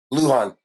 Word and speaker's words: Lujan: Did I pronounce that right? It's Lujan.